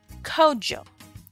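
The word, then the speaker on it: Kwadwo: be called Joe now this is written quad Joe and I'll show you the variations in just a moment but the most common pronunciation for boys born in the country of Ghana your traditional African name would be Kojo all right and if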